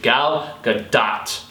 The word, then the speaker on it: Gal Gadot: film, but Gal Gadot, as she is supposed to be pronounced according to an Israeli commenter, or a Hebrew commenter in Hebrew, Gal Gadot.